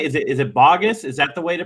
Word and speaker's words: Baugus: Is it Baugus? Is that the way to pronounce it right?